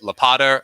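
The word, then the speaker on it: Łopata: how you asked him do you say it lapada or uh wupata um which is a horrible mispronunciation of what it probably is in Polish uh but he said in English it's lapada with the l so I think we're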